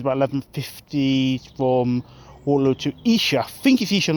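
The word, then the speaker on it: Esher: i trained twins by 1150 from waterloo to isha i think if he should not actually i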